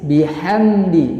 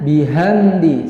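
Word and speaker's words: بِحَمْدِ: Di sini menggunakan ha tipis, bihamdi, jangan bihamdi, salah.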